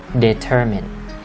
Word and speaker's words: determinate: lạ á bita Mai Thằng này bị sai nhưng mà cách đọc đúng với nó sẽ là determinate determinate determinate determine which determines Đây